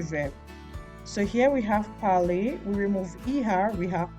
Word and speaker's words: parle: So please take note that the E here is silent. Here we don't pronounce, we stop at parle, we don't say parles. Then here we say parlons, here we say parler. Here we don't pronounce the ENT, we just stop at parle. So ENT is always silent in the il and the elle of the plural form.